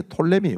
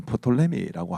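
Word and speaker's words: Ptolemy: 하나는 이제 톨레미 왕족이라 해서 어떤 분들은 프톨레미라고 하기도 하는데 피가 묵음입니다.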